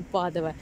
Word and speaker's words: Padova: появилось название подули и по-русски она везде пишет спаду и произносится падуя но вообще по-итальянски везде написано вкладывая и мы привыкли называть ее padova в общем то как